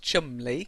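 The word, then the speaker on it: Cholmondeley: Okay, so John Mandi is actually pronounced chumly.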